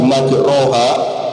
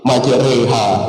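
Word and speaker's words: مَجْرَاهَا: Di surah Hud ayat 40 atau 41 harusnya bismillahi majraha dibaca e. Jadi bismillah majha mursaha satu namanya imalah.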